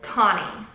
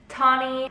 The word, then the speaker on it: Tahnee: pronounce my name so my name is actually pronounced tawny t-a-h-n-e-e tawny very unique very different